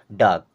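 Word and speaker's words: dark: तो बन गया गेटिंग डाक डाक मींस होता है अंधेरा वैसे तो डार्क होता है लेकिन आर को हम नहीं पढ़ते हैं केवल डाक बोलते हैं ठीक है इसको साइलेंट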